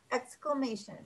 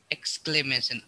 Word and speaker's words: exclamation: exclamation point exclamation yeah exclamation exclamation it's very hard to pronounce exclamation it's because it has a l in it and you're not used